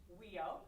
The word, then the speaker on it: WEIO: the world eskimo indian olympics affectionately known as weo that's how you pronounce it amber just got her mba from